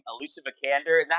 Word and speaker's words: Vikander: I'm gonna butcher her name, Alicia Vikander.